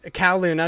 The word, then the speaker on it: Kowloon: It is written by Kate Gray, and it is, I don't know how to say this, Kowloon Nights is Kowloon.